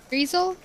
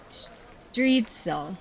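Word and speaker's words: Striezel: Streisel? Okay, I need a pronunciation. Hang on. Pronunciation. Streisel. Salimba, hey, hi, hello. They're great. It's pronounced like streetzel.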